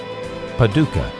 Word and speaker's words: Paducah: That's Post Office Box 766, Paducah. That's spelled P-A-D-U-C-A-H, Paducah, Kentucky 42002, USA.